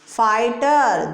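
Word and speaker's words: fighter: फाइटर, GH silent.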